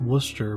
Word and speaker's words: Worcester: that's it's pronounced Worcester but it's spelled wor C es ter anyway it was called